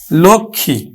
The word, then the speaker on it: লক্ষ্মী: দিয়ে হয়ে গেল কিন্তু আমার কি হয়ে গেল লক্ষ্মী হয়ে গেল লক্ষ্মী তো এখন আমরা এই লক্ষী টাকে আমরা উচ্চারণ করব লক্ষী হ্যাঁ আর আমরা জানি কিন্তু